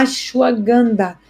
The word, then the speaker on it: ashwagandha: O meu preferido é a ashwagandha. Ashwagandha. Se escreve A-S-H-W-A-G-A-N-D-H-A.